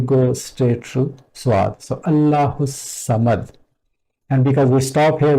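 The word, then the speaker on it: ٱللَّهُ ٱلصَّمَدُ: And lam is also not pronounced because of swad being sun letter rather than the moon letter. From this ha, we go straight to swad. So Allahu samad.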